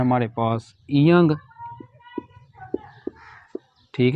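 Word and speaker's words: ㅇ: की तीन आवाज है यह पहली और सेकंड पोजीशन में साइलेंट होगा और थर्ड पोजीशन में इंग या उंग की आवाज देगा ठीक है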